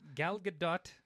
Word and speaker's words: Gal Gadot: a cool character like though so it means gal gadot that's how you say her name by the